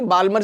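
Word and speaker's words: Balmer: बामर series बामर series तो L silent होता है बामर सीरीज लैंडिंग कहां हो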